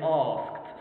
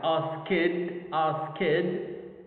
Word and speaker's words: asked: If we pronounce asked in the wrong way, like ask kid, it means that it consists of two syllables. Ask kid. But actually no, it's pronounced asked, asked.